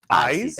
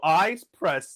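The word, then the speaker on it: Ize Press: Actually, I learned from a promotional box I got from them, it's actually pronounced ice press. Eyes.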